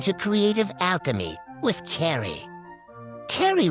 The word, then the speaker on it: Carrie: Carrie rhymes with Mata Hari.